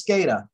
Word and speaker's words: SCADA: as php etc that's right yeah so it's scada um so data thank you and and george is correct i do see that comment a lot of stated networks so scada networks for those who aren't familiar with the